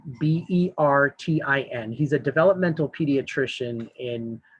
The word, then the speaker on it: Bertin: It's Mark Burton, Bertin.